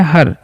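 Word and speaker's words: her: अब जो वर्ड आप लोग देख पा रहे होंगे एच ई आर तो इसे हेयर नहीं इसे हम लोग पढ़ते हैं हर।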